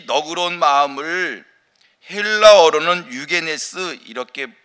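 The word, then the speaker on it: εὐγενής: 이 너그러운 마음을 헬라어로는 유게네스 이렇게 발음을 하고요, 고상하다는 뜻입니다.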